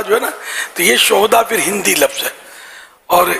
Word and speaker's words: شہداء: عربی میں سید الشہداء، شہداء ہاں پر زبر، یہ شہید کی جمع ہے.